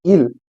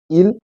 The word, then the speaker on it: il: And the spelling for il is IL and for L is ELLE. So the pronunciation is il for he, il and L.